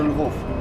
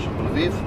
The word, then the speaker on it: Lviv: Right now we're going to the Lvov. Lvov, I know how to say it in English. Lviv.